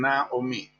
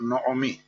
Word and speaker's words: Naomi: agradable Por cierto que la pronunciación exacta del nombre de Naomi es conflictiva puesto que muchos siguen una antiga costumbre de algunos sefarditas y lo pronuncian Naomi eh Aunque está claro que según las reglas gramaticales debe ser noomi en griego y en latín se conviene se convierte en noem eh con la con